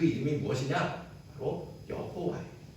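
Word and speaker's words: 야훼: 바로 여호와 야 예 여호와는 사실 히브리 말로 말에는 모음이 없어서 그게 어떻게 있는지 모르거든요 그걸 나중에 이제 그 이제 모음을 다 붙이게 여호와라고 부른 거고 학자들이 연구해서 보니까 실제 발음은 야회 있을 것이다 이렇게 추정합니다 아무튼 하나님의 이름은 그렇게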